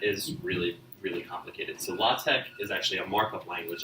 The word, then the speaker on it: LaTeX: the and that is really really complicated so law Tech is actually a markup language that sits on